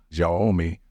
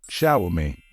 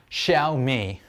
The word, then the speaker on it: Xiaomi: of saying this word even native speakers mispronounce it and say jomi ji and so on the correct way to say it is sh me the stress should fall on the first syllable it's sh me it's not shiai it's xiaomi x i a o m i is a brand of Chinese phone it's called xiaomi so it's pronounced Shia me sh me now let's